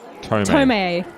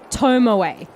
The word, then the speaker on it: Tomoe: Tomei. Tomei. It's Tomoe. Tomoe. Yeah. Tomoe. 3 syllable.